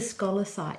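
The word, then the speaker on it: scolecite: had a beautiful store but I bought the scholar site if that's how you say it can I might just um I might just bring that on camera so this is the scholar site does that how you say it yes that's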